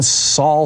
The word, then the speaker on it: Sol: Sol Sandoval? Yeah, S-O-L Sandoval. Yeah. Okay. Sol Sandoval. Sol is how we'd pronounce it.